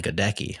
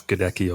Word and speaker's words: Goedecke: perspective because I in my head it's been gadeki this whole time. You know, I probably said that. Yeah, it's closer to the like the classical German pronunciation is gadeki or gertika, but my family say gettaki.